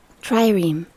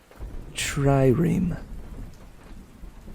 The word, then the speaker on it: trireme: magical greek tr trirene tree rheem how do you say that hang on tryream tryream cool thank you for